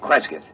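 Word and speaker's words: Cresgyth: record it instead as um well, I'll I'll spell it. C R E S G Y T H. Kresith.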